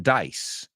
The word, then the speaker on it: dice: he rolls some dice they are not homophones so let's rhyme let's rhyme every time rice rhymes with dice rhymes with lice rhymes with mice plon right mice it also rhymes with price right so dice is an S sound and the second one